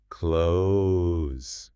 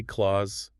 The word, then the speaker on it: clothes: It's got the sound followed immediately by a Z sound. Yeah. It requires some serious gymnastics from your tongue. Clothes. It feels like you're going to spit on someone. It's tricky. The source advises a soft though, but honestly, the expert in the text makes a great point. Clarity beats perfection here. So just get close. Just get close. Don't say claws, and definitely don't say cloths, which we are about to get to.